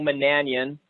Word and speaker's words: Monanian: team head coach Nicole Manan Ian and the way you pronounce that is like companion right is that the the